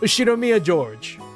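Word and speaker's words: Ushiromiya George: pronounced Ushinomiya George.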